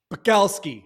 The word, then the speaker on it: Pakalski: service for these companies buckelski how you doing good man i always love why you pronounce my last name a little twang to it okay yeah it's like it's like a midwestern thing did they call you